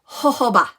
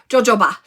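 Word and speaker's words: jojoba: listen it is called hoba I did not know I said it wrong all the time I said JoJo ba it is not JoJo is ho ho so Santa Claus ba right ho ba so excellent excellent um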